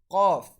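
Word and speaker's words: قاف: So Qaf is pronounced when the end of our tongue, which is close to our throat, touches the end of our backside of our palate. So Qaf will be pronounced.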